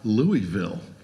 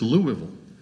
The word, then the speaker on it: Louisville: and he says look it's not louisville i said well how do you say it he said it's louisville louisville and i'm like okay